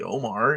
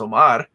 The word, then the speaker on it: Omar: pronounce my name properly my name's not really omar it's pronounced omar i think the only